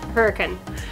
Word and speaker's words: Hurricane: So Hurricane is spelled Hurricane for those who are wondering, but the locals do call it Hurricane.